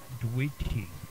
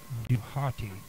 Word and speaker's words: Djehuty: The Egyptian pronunciation of Dwighty, D-H-W-T-Y, is not fully known, but may be reconstructed as Duhati, based on the ancient Greek borrowing Thoth or Duet, and